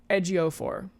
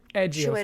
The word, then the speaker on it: Ejiofor: And also I'm not gonna be able to pronounce his name. Good luck, because I don't know how to either. Chiwetel Ejiofor.